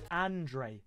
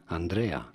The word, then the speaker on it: Andrea: five star skills beautiful haircut bit awkward on andre is pronounced as andrea andrea paulo is going right mid for some